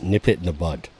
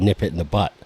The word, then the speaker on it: nip it in the bud: She said, "You're saying that wrong," and I was like, "How do you say it?" And she said, "Nip it in the butt." I said, "No, you are saying it wrong."